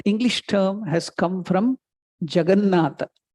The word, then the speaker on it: Jagannatha: English word, if you can Google, you can see juggernaut. That English term has come from Jagannatha. The British couldn't pronounce Jagannatha, so they made it juggernaut.